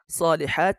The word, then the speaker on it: الصالحات: সলিহাত বলে থামছি আমি, আপনারা অবশ্যই খেয়াল করেছেন।